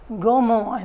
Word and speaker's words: Gaumont: job as Secretary to they'll go mourn that spell it looks like Gaumont in English J um Ont and he actually had a